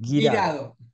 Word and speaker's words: Guirado: Girado.